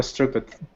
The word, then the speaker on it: striped: His pajamas are striped. Good. Striped. Striped. Yeah, striped. Striped. Yep, all of those sounds go together in one really quick syllable.